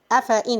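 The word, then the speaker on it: أفإين: Afa'in, here the ya of afa'in. Afa'in. We're not saying afa'in, but actually, if you look at the Mus'haf, you'll find it is having ya. And this ya got circle 0.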